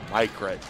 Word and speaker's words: Mykret: Mykret, is that how you pronounce that? The I's like a Y, Mykret.